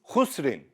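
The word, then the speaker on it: خسر: The next example is khusrin. Again, there is a stop here. So, you make the haraka of the Ra a jazm. Normally, you read it khusrin.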